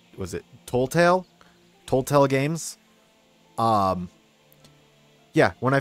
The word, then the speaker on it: Telltale: found out that, also, I've been saying their name wrong. It's, was it Telltale?